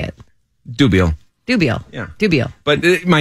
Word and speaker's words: Dubiel: it to it straight dubiel dubio not dubielle you know what it's